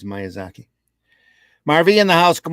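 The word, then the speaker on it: Miyazaki: gents uh M Zaki Miaki was I pronouncing it wrong I it's myazaki Marvy in the house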